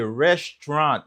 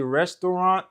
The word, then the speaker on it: restaurant: syllabes mais et vraiment prononciation commun c'est deux syllabes liés restant qui veut dire dans restant là pas presque